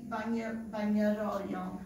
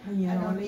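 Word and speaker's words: Bagnoregio: Cività di Bagnaroglio. Did I say it right? Bagnaroli.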